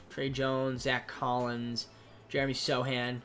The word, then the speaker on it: Sochan: We got like Keldon Johnson, Trey Jones, Zach Collins, Jeremy Sohan, which I would say Sochan, but I guess the C is silent.